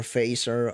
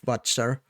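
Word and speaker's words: Fazer: The brand is Watcher or Phaser, I guess some people could pronounce it, but I think we generally pronounce it Watcher.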